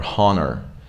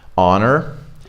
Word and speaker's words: honor: supposed to right so there is a silent H in some words and you're not supposed to say anything here you just drop it so we don't go like Honus or honnor we go honest honor our yeah it's exactly like